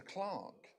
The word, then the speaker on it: clerk: I don't No, it's the clock. Even though it's spelled clerk.